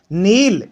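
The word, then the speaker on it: kneel: है ठीक है से नील इसमें के साइलेंट है ध्यान रखना के जस्ट बाद अगर है ना आता है वह के प्राइस साइलेंट रहता है तो यह हो गया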